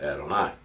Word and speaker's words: Adonai: into the habit of every time we see Yahweh or yo ho ho that will pronounce it Adonai so it is co